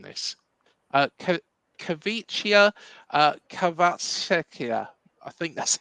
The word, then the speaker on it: Kvaratskhelia: Kavicia Kvaratskhelia. I think that's how you say it. I'm sorry. Let me try it. Kvaratskhelia.